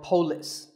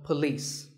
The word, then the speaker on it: police: this isn't police or polis it's paw and the police with the stress on lease so police the next word is